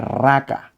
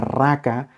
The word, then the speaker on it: raca: eruditos que dicen que la palabra raca de la manera como se pronunciaba asemejaba No es cierto a la idea de e expresar No es cierto cuando uno va a escupir como Suena la garganta cuando uno quiere escupir a un hermano a una persona por